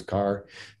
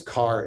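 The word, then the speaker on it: Kerr: what's up it's james carr it's spelled k-e-r-r but it's pronounced car i believe awesome i'll check that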